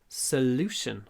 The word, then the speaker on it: solution: И существительное будет solution. Мы нашли решение. We found a solution. Solution. Не solution, а solution. Ударение на втором слоге, значит, мы растягиваем л.